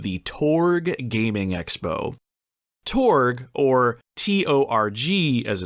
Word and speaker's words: TORG: in Columbus Ohio called The torg Gaming Expo torg or t-o-r-g as it's spelled stands for the Ohio retro gamer and